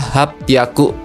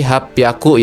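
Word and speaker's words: 八百: Ini pengecualian berikutnya 800. Cara bacanya adalah hapaku. Nah, jadi ini sama kayak e 600 tadi ya. Jadi hapyaku ya. H-nya kasih maru jadi pi ya.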